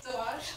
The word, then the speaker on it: Delange: Delange.